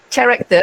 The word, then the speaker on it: character: So little did I know it's pronounced as k, not ch.